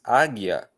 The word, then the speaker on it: águia: Bom, quando nós paramos para pensar na real pronúncia que essa palavra tem para nós aqui no português brasileiro, nós vamos ver que o A é pronunciado com força. O primeiro A.